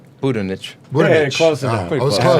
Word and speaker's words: Budinich: Budinich.